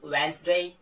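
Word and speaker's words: Wednesday: या फिर bridge, has, ऐसे करके, या कुछ अलग भी हो सकते हैं लाइक वेंसडे, यहां भी आपने जो है डी को साइलेंट किया।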